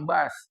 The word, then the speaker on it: bus: Bus bahasa Inggris bacanya bass. Kadang-kadang kita sebutnya sini bis. Bis.